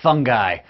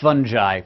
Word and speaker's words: fungi: the wonderful world of fungi or fungi both are acceptable pronunciations but I say fungi because it's fungus not